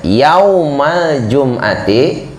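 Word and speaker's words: يوم الجمعة: Yaumul jum'ati, salah bacanya, yaumal jum'ati salatun kulluhu ma min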